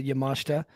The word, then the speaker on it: Yamashita: got it wrong probably I the eye a lot of time is silent yes I lived in Japan for two years so a lot of times the the vowels are silent uh in when they're placed certain ways but um yeah Miu